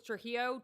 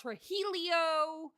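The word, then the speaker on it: Trujillo: So yeah, my So my married last name was Trillo. T R U J I L L O. If you can pronounce fajita and you can pronounce tortilla, you can pronounce.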